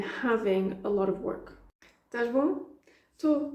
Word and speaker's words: estás bom: That's why you hear that sh at the end of the verb. Estás bom.